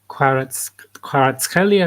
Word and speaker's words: Kvaratskhelia: Cuts was, how do you pronounce it, Anna? Mm-hmm. Who's the Georgian player for Napoli? Kvaratskhelia, who's playing for Napoli, who's quite good from Georgia.